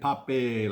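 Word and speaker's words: Papi: Laura sent this picture of Poppy, and Poppy sent today's joke for Gizmo. That's right. And Poppy's a good-looking dog, but it's not Poppy like a flower. It's Poppy like Poppy, like P-A-P-I.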